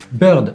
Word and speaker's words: Beurd: ont créé à montréal birds c'est en fait le mot oiseaux en anglais prononcé avec un accent français quel est le lien